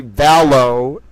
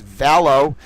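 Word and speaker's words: Vallow: It's Lori Valow. It's cuz I saw the E L O W and I was mispronouncing it as Dell because I had an association with those letters. It is Valow.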